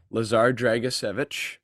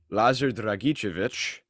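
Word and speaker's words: Lazar Dragičević: The English is Lazar, but Lazar as you say in Serbian.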